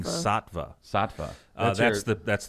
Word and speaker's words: Saatva: of this mattress right how would you pronounce s-a-a-t satvia well there's no i oh i'm thinking saatva saatva oh that's the